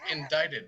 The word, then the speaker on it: indicted: It's indicted. It's But pronounced there's indicted. there's a C in there. The C is silent.